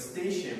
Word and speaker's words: station: that's interesting with station when you look at station right does this have an SH you spelled with an SH does it a station let's look at the station so where's the sound from what letter T 2 T 3 T right T is usually like this anyway so what